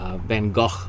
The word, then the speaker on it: Van Gogh: vincent van gogh and i'll call him vincent van gogh just van gaach always sounds a little bit i feel a little bit pretentious saying that even though i think it's much closer to the original but um uh if